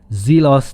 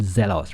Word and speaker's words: Zelos: by the way guys it's called zelos not zealous right so let's say it properly zelos right so anyway let's see